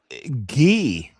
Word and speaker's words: Guy: Uh Gee is the pronun is the France pron French pronunciation.